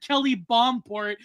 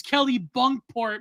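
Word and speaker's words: Kennebunkport: Kelly he said Kelly Bombport. It's Kelly Bunkport Maine. So I pronounce I've been pronouncing it Kelly Bombport main this whole time.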